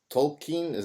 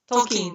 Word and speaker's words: Tolkien: Tolkien. Am I pronouncing him right? Tolkien, yes.